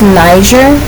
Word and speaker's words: Niger: And, I end up, it's actually spelled nigger, but it's pronounced Niger, okay?